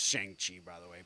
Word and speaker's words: Shang-Chi: Not pronounced Shang-Chi, by the way. Pronounced Shang-Chi.